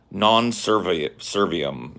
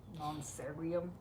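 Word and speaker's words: non serviam: Non-servium. Non-servium. Servium. Servium. Yeah. Non-servium. Like V's are kind of like W's and kind of like Servium.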